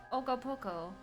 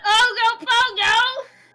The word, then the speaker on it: Ogopoko: It's Ogopoko. Not Ogopogo!